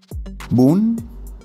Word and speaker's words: bún: Bún, pronounced like bún, means noodles in Vietnamese.